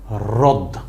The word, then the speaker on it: হ্রদ: হয়ে গেছে তাই না এই শব্দটাকে আমি কি পড়বো হ রফলা যদি র হয় তার সাথে এটা আছে দ তাহলে আমি উচ্চারণ করবো কি রদ রদ হ রফলা দ কি বলবো রদ এই রদ কি রদ